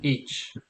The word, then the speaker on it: hic: So Ah, hic. so Okay. the restored pronunciation would be hic. Yeah. So you will pronounce the H. Ecclesiastical pronunciation, you will drop your H's, and the IC would sound like each.